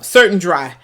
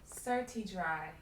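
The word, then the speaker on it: Certi Dri: your head like it's Certain Dry, like it's like deodorant, but you just put it on your head and it'll work. Certi Dry. It's not certain, it's certi. It's spelled CERTI, then DRI.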